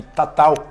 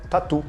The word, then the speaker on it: Tatau: que bate na madeira era chamado de Tatau na língua Nativa só que quando foi pra Europa por um novo acidente não se sabia pronunciado total e falaram tatu E aí temos o